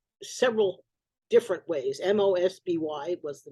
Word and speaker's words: Mosby: spelled several different ways m-o-s-b-y was the name m-o-s-e-b-y because it was pronounced with the long o must be okay so